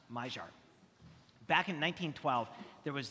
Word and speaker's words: Maillard: It's spelled Maillard, but it's pronounced Maillard.